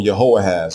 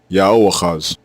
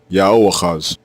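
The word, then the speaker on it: יהואחז: Both forms are pronounced the same way, Yaoachaz, Yaoachaz, and it means Yahweh takes.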